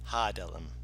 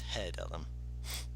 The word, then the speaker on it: Hedellum: No, I put an A after the H. Ah. Hadelum. No, it's Hedellum.